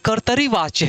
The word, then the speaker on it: कर्तृवाच्य: कर्तृवाच्य नहीं है बेटा। ये कर्तरीवाच्य है। यानी त के ऊपर भी र है और नीचे भी र है।